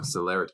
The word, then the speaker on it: celerity: celebrity no I'm no Celerity actually it is spelled exactly like celebrity but without the B wow can you guess